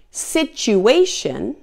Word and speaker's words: situation: Now there are also a few other common words where the T is pronounced as CH as well. For example, the word century, the word statue, situation, and the word fortune and its related forms.